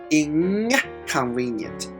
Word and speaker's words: inconvenient: So K is at the back of our throat. So that's why N is also pronounced in the back of our throat to prepare to pronounce the K. So inconvenient. Inconvenient.